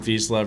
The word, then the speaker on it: Vizsla: Yeah, well, you pronounced it right, and as far as we're concerned, we pronounce it Vizsla Resources.